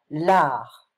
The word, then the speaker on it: l'art: So, be careful of this word, because we don't pronounce the T in French. L'art.